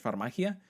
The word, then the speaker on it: Farmagia: Then we have that game Farmagia, which I think it actually is meant to be pronounced in Spanish, Farmagia.